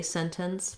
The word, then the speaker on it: sentence: match what's around them they notice that a lot of people don't say sentence with that t sound we have the same